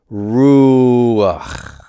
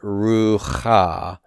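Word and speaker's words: רוח: It's ruach. Ruach. Not rucha, but ruach. So what do we have here? We have a one-syllable word, which should have just been ruch, but to pronounce the chet, the vowel sort of glides into an A vowel right before we produce that chet. So ruch becomes ruch, ruch.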